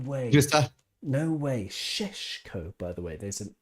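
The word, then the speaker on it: Šeško: In his name have little V's on top. V's, turning it into an SH sound. So Sheshko.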